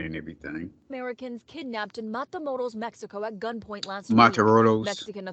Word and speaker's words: Matamoros: Matros. No, Matamoros. Matamos.